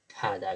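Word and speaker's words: 바다: त्यस्तै ब प्लस आ बादा बाधा हुनुपर्नेमा तर हामीले यसको उच्चारण चाहिँ अब फादा गरिन्छ।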